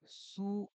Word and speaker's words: す: সবার এবার আমরা শিখবো সু এটার উচ্চারণ ইংরেজি শব্দ সুনের যে সু তার মত সু এর একটা উদাহরণ হচ্ছে